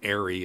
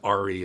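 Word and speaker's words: ARRI: and by the way it's pronounced aeroflex and arie it's not pronounced re as all these youtubers say but uh when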